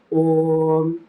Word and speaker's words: ஓம்: நான் பாத்தீங்கன்னா ஓங்காரத்தை எந்த பிரதானமும் இல்லாம நான் இப்ப வேதாந்தம் நல்லா கேட்டதுனால டைஜஸ்ட் பண்ணதுனால இப்ப நான் பாத்தீங்கன்னா ஓங்காரத்தை எப்படி உச்சரிக்கிறேன் அப்படின்னா ஓம் ஓம் ஓம் ஓம் ஓம் இந்த மாதிரிதான்.